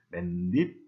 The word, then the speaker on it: 맨입: 그래가지고 맨입, 한여름이 됐는데 이것을 실제로 발음을 할 때에는 분명히 중간에 없었던 니은을 덧붙여가지고 맨입, 한여름 이렇게 발음을 합니다.